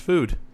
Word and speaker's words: FUD: FUD, pronounced food.